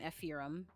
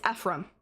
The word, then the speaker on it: Ephraim: He feels like an ephirum. I say that right. Is it Ephirum? It's Ephraim. Ephraim.